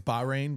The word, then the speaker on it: Bahrain: I think it's Bahrain, but Okay, but was a silent H.